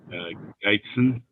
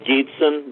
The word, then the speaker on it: Gietzen: Complaint number 703, Skoglund versus Geitzen. It's pronounced Gietzen, but that's close enough.